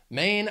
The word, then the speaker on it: Maine: food our next state Maine has one syllable just one main Maine I also think of